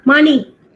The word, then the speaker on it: Mani: Yeah, Money. I don't know whether he's still there, but he was a very popular man. But the spelling is same, M-A-N-I, but they pronounce it as Mani.